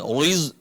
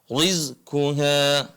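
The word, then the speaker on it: رِزْقُهَا: illa alallahi rizquha ahsantum RI bukan Riz rizquha baik ini yang pertama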